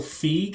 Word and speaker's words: Feig: We're going over to Amazon today, and yes, an action comedy directed by Paul Feig. I think that's how you pronounce it, F-E-I-G.